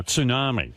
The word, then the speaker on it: tsunami: Tsunami. That's the way it's pronounced.